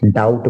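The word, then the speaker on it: doubt: के बाद है डाउट डाउट में बी साइलेंट रहता है डाउट इसमें बी साइलेंट है य डाउट बोलेगा डाउट के बाद अगला वर्ड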